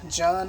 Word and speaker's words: Jun: for my jun or june i'm going to say june i feel more comfortable saying june but they say it's pronounced john like run but anyway i got